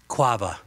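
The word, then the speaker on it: קוה: But it is quava. Q-A-V-A-H. It's quava.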